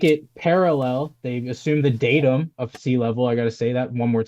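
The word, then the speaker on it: datum: So, pronounced datim.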